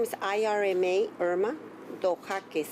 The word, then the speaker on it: Dojaquez: Remember, if you could, one more time, just spell your first and last name and then pronounce both. Okay. My first name is Irma, Irma Dojaquez, D like in David, O, Jaquez.